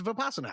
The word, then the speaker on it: Vipassana: That's too many syllables. Vipassana. Vipassana. It's Vipassana.